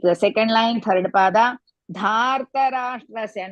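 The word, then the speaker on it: धार्तराष्ट्रस्य: Dhartarashtrasya, not datra.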